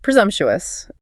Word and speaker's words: presumptuous: Okay, then we have presumptuous. Presumptuous. Stress on the second syllable. And notice that CM sounds like a Z.